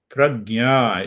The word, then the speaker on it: Prajna: Prajna is a very important word. Prajna. Prajna, two syllables in Sanskrit.